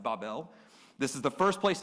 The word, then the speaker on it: Babel: we're going to talk about the Tower of Babel I know it's pronounced Babel many of us pronounce it Babel it's actually pronounced barbell this is the first